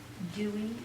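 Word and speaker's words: D'Huy: Dewey is the correct pronunciation? D-H-U-Y.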